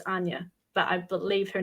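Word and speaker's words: Áine: And then, you know, in my younger years, I could never figure out how a I N E was Anya.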